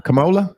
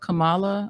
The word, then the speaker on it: Kamala: What is uh how do you pronounce his name? Uh Camola. Kamala.